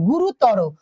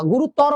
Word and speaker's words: গুরুতর: এরপর আসো দেখি আমরা গুরুতর গুরুত তর ত র তর না গুরুতর না গুরুতর তর র রকার র দেখো তাহলে কি এখানে র টা কি বলতো মুক্ত ভাবে মানে থামছে না টেনে যাচ্ছে অর্থাৎ এইখানে আমরা কি